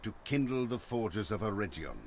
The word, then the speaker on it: Eregion: And I'm going to try to pretend that Gandalf didn't just say Eregion, because of course it's pronounced Eregion. With a hard G, as is, for instance, and somewhat confusingly, the name Region on the Silmarillion map.